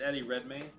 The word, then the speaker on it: Eddie Redmayne: this like his commander did i pronounce his name wrong at the beginning of this yeah it's eddie redmayne i mean there's some other movies that of